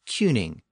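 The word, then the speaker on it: cyning: The traditional Old English word was cuning, a two-syllable word spelled C-Y-N-I-N-G. By this point, that word had been reduced to one syllable, and the U sound had shifted to an E sound.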